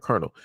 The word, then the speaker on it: Colonel: like military wise, like Colonel. The way you say it is not the way that it is spelled.